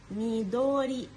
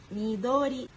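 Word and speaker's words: 緑: اك نيجي بقى للون الاخضر اللون الاخضر يعني ميدوري ميدوري ونيجي بقى للون الاصفر يعني كيرا كيرا ممكن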